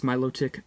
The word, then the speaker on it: Milotic: a milotic and no i don't pronounce milotic melodic I just like the way